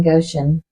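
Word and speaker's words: Goshen: only place it did in hell was in Goan am I saying that correctly um I think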